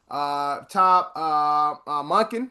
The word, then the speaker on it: Todd Monken: Also, the Browns have hired their new head coach, Ravens former OC, two-time national champion, Top Munkin. That's how you pronounce his name.